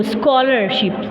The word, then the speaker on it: scholarship: Scholar we will mute H and we will pronounce SCO, scholarship.